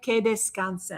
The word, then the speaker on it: descansen: I'm going to try to say this word. Descansen. Did I say it right? Que descansen. Que descansen. All right, I said it right.